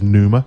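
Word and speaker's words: Pneuma: One this month uh panuma which I think is Numa with a silent P mhm uh Breath of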